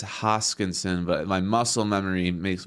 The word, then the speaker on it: Hoskinson: Some people don't like the way I pronounce Hoskinson because on the Detroit Lions, we used to have a guy whose last name was Hawkinson.